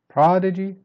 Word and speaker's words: prodigy: Prodigy, start strong, then you go down. Prodigy, prodigy.